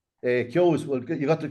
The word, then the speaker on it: Keoghs: Keoghs, well, you got the pronunciation right first anyway, Ballymakenny.